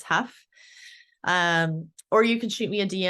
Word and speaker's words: Hough: And Huff is spelled Hough, not Huff. I always say it's like rough or tough, but it's Huff.